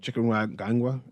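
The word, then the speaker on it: chikungunya: Mosquitoborn illnesses include deni fever and chicken ganga. That's how you pronounce it and are present.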